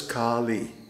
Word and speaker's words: Kālī: specific energy of goddess kali so you notice i pronounce her name kali that's to distinguish it from kali because for example the